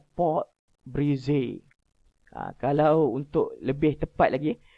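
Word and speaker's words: pâte brisée: Pâté brisé, pâté sucré atau pâté sablé? Bukan. Kita tengok yang pertama. Okey, sebutan dia adalah pot brisé. Nampak ejaan dia adalah P-A-T-E, tapi sebutan dia adalah pot brisé.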